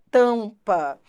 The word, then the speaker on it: tampa: pente e em Tampa repare o m e o n não são pronunciados isso é dígrafo pente você não pronuncia o n você não fala penite tampa você não pronuncia o m tam se você pronunciasse seria tam se você pronunciasse o m se você pronunciasse o n seria penite né você não pronuncia os